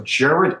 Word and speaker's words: Gerard: So Gerard is spelled like Gerard, Gerard, and is spelled like, good French name.